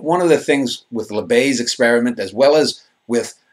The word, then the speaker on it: Libet: He pronounced his name Libet. Libet, okay, I'm sorry.